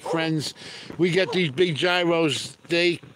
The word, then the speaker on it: gyro: these big Gyros they it's actually a a Euro ain't it not gyro they couldn't even finish one I'd wind up eating two of them isn't it pronounced Euro I don't know that's the way Greek say it I'm lucky I know